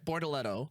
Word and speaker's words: Bortoleto: Bortoleto. Bortoleto. Bortoleto. It's Gabriel He's got it. Bortoleto.